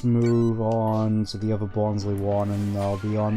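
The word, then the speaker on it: Bonsly: I always called him Bonsley, even though it's supposed to be Bonsley. The pronunciation just never really sat right with me, admittedly, even though it makes a lot more sense given they're based off of bonsai trees.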